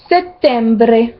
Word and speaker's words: settembre: Comme dans septembre, ça se dit settembre. Le E et le M, on entend bien les deux. Settembre.